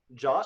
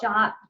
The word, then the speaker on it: JWT: What was that pronunciation again? Jot. Jot.